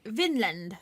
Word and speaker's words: Vinland: it right, as but Wineland. They would have pronounced it Vinland.